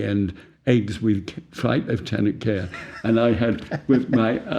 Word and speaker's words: Kerr: My name is pronounced Kerr by some people, but it's Kerr in Scotland.